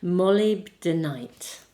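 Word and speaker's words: Moldavite: Molly Denite, I think is how it is said.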